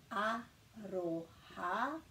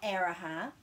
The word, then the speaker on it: aroha: Taku aroha, not araha, aroha ki a koe, koe.